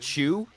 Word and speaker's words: Cho: of nowhere he says uh Margaret cheu baros why are you talking I mean that's how you pronounce it if you're Korean people don't know that